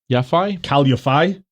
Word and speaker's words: Yafai: So, also on that card, was it Khalid Yafai? Cal Yafai? That's how you pronounce it, yeah.